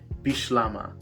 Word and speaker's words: Bislama: french and english influence it can often be pronounced differently if you're coming at bislama from a french linguistic background you would use bislama so you would emphasize the sh in bislama if you are coming